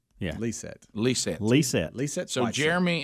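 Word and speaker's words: Lysette: name is it's l-y-s-e-t-t-e but he says it's pronounced lee set yeah lee said lisa lisa lisa so jeremy and lisa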